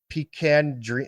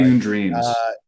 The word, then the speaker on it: Picayune Dreams: Taxi Go Vroom, Children of the Sun, Balatro, Pecan Dream or Picaya Dream. I can't pronounce it. I'm sorry. Picayune Dreams.